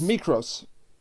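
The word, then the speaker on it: Mykros: How do you pronounce his name? Mikros? he's Mikros.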